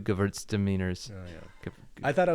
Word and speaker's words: Gewürztraminer: It is Gewürztraminer. Gewürz. Gewurz. Gewürz. Gewürztraminer. Gewürz. You have to pronounce the R a little bit better, but I guess that's fine.